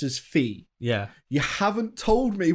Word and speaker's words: phi: more than it's 1 to 1.61 and it's pronounced as phi.